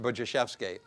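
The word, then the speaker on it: Budziszewski: may have run across it's a Polish name it's it's it's spelled Bud zis Zusi pronounced buvi uh he is a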